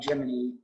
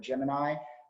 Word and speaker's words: Gemini: was jiminy three um the pronunciation of jiminy i think my natural inclination would be to pronounce this word gemini so there is some discrepancy on how folks say the word um i don't think